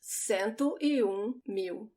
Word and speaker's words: cento: 100 rounds so same you now it's different sento and dosantas mew and then we go so